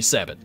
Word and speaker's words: sabot: Have I been pronouncing sabot wrong my entire life? I think the correct... Because it's French, right? I think the correct pronunciation is sabo, actually. But most Americans say sabot.